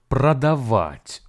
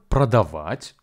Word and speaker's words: продавать: about the Russian word pradavat which means to sell in English the word pradavat has three syllables Pro da vit and the stress falls on the last syllable please be advised that